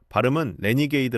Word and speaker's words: RNGD: 이 회사 가 개발 한 칩은 RNGD 입니다 . " 레니게이드 " 라고 발음 합니다 .